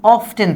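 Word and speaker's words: often: যদি অফটেন থাকে বা অফেন, দুটাই এটার উচ্চারণ, অফটেন বা অফেন।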